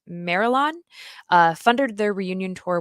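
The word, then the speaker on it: Marillion: so please correct me I believe it's pronounced marilon uh funded their reunion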